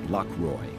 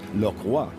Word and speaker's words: Lockroy: dropped anchor before the English base of port lockroy it really should be pronounced laa for it was Jean batist shako who discovered